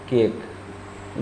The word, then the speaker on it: cake: जैसे आप देखिए CAKE, उच्चारण क्या हो गया? केक। गौर करिए, इस ए का उच्चारण हुआ, इसका उच्चारण नहीं हुआ।